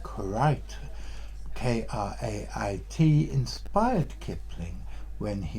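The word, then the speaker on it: krait: make as I said I always assume that karate was a anglo-indian pronunciation of crate and it might well be that the name kurite k-r-a-i-t inspired Kipling when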